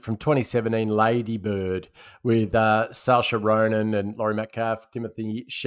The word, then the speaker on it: Saoirse: I think it's Saoirse. That's how you pronounce it.